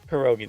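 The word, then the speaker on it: pierogi: everybody it was a quadruple raid perogi dumplings perogi that's how you say it of course it's perogi I'm dumb um Bosch tunic stuf thanks for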